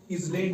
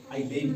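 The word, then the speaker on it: island: आई एस एल ए एन डी इसको इज लैंड नहीं पढ़ना है। यहां एस इस लैंड नहीं पढ़ना है बल्कि आई लेन पढ़ना है।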